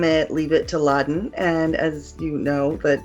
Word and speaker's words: Ladan: I tell them it's like bin Laden but you get rid of the bin and you just keep the good and get you know and keep just awesome Laden.